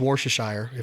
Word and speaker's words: Worcestershire: what i i've always used worshire am i pronouncing that right yep i love worcestershire as